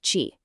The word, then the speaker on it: QI: They call it quantum intelligence, or QI, and it's pronounced Chee.